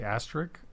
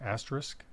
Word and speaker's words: asterisk: Yeah, I feel like I used to always say asterisk, and then I realized that it's a risk, asterisk. Yeah. I guess if you pronounce it, like if you slow it down, if you say quick, asterisk, it sounds asterisk.